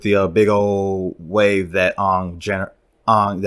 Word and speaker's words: Aang: big old wave that Ong, I'm saying that right? Ong? That's how they say it in the film. Aang, is it Aang that they say in the cartoon? Yeah, but in this universe, it's Ong.